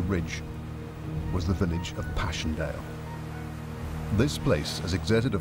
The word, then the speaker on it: Passchendaele: November 1917, but also because of its unusual and poetic English pronunciation, Passchendaele.